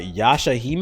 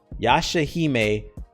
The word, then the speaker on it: Yashahime: my name is uh yasha hime i think that's how you say yashahime princess half demon it's spelled y-a-s-h-a-h-i-m-e ya shahime uh princess half-demon and